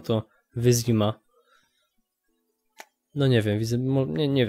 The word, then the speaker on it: Wyzima: Zastanawiam się, dlaczego tutaj wymawiają w zimie. Tutaj nie ma zi, to jest wyzima w sumie. I z tego co pamiętam, już w drugiej części gry i w trzeciej wymawiano to wyzima.